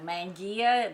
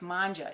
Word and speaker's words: mangia: sue's montgomery this is manja which means in italian to eat and as i explained before manja you're going mangia the way it looks like it's pronounced it's not it's manja it's italian for eat